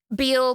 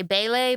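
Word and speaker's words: Bele: dude's on the bridge and his name is Beal but every time I look at it I want to say ble because it's spelled b l e I wrote it in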